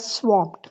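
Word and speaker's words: swamped: share it again okay ये word है स्वप्ड इट is pronounced as स्वम्प्ड स्वम स्वप्ट या यू कैन सी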